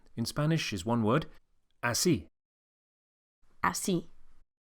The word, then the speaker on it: así: The way to say like that, or indeed that way, in Spanish is one word, así. Así. Make sure you accentuate the second syllable, y.